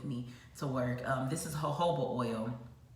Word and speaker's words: jojoba: This is jojoba oil. It's also listed on my acne thing. It's spelled Jojoba, I believe. But it's pronounced jojoba oil.